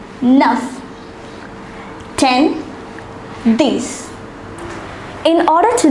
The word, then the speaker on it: neuf: The number 9 is pronounced as neuf.